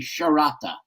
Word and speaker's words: Sciarratta: In Sicily, SCI is pronounced SH, so it would be Sciarratta.